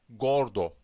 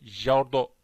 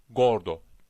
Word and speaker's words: gordo: bu bu harften sonra Gordo bu giyme Reş Hani bu şekilde telaffuz olur yani cerdo değil yani gordu baktınız c harfinden sonra a Oo geliyor hemen burada okunuşun telaffuzun kalın olduğunu Yani g harfi Türkiye